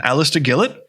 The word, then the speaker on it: Alistair Gillett: and uh with me today is my friend alistair gillett did i say that right yeah you pronounce the word you have to have to